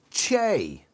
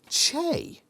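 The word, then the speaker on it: Chee: to what i believe so the chio actually pronounced the che an android race that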